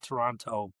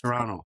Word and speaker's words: Toronto: It's not Toronto. It's Toronto. Toronto. Pronounce the second T.